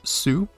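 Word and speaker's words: す: next is swing it looks like a swing pronounced sue it looks like a kid flying the [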